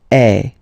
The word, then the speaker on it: es: And for tu, then you've got this combination of letters, okay, but then basically the sound you will pronounce or you will produce is e, okay, tu es, all right, je suis, tu